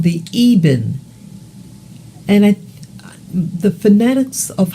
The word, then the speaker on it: Eben: It sounds like it's pronounced Eben.